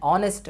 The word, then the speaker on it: honest: উচ্চারণ যদি না হয় অর্থাৎ এইচটা যদি সাইলেন্ট থাকে তাহলে তার পূর্বে বসবে যে এন, যেমন মনে করো যে অ্যান আওয়ার, অ্যান আওয়ার, বা মনে করো যে অ্যান অনেস্ট ম্যান, ঠিক আছে।